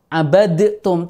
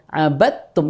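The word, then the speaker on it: عبدتم: kita tidak di situ tidak membaca abad Tum Tidak kenapa karena berlaku hukum idgham sehingga abattum langsung aja ket tak tasdid Oh I Iya begitu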